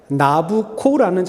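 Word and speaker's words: Nabucco: 이유가 이탈리아 작곡과 베르디의 오페라 나부코라는 작품이 있습니다. 나부코. 나부코. 나부코는요. 이탈리아 말입니다. 이탈리아 말. 나부코. 나부코는 이탈리아 말로 바벨론 제국의 왕 느브갓네살의 이탈리아식 발음입니다.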